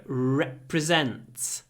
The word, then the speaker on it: represent: country at the Olympics so represent represent the e at the beginning is really short but the r is quite long represent my country at